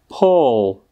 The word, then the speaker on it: pull: Tak, jak sami slyšíte, tak zatímco bazén se vysloví s dlouhým U, pull, tak sloveso zatáhnout se vyslovuje, jako byste spíše chtěli říct něco mezi O a U, to pull.